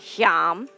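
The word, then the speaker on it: Yam: of the annapurna Anahata chakra is john it's pronounced YUM we have this sound vibrating through us to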